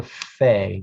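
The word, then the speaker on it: פ: this is the pha it's pronounced as an f for a ph sound this is the pha just look at this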